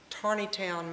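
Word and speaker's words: Taneytown: of a church in Tarney Town Maryland now interestingly enough it's spelled t n town There's No r in it but they pronounce it Tarney Town sort of a strange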